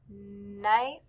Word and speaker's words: knife: and knit knife knit both of these words begin with the k n but since the k is silent we just hear the knife knit great job on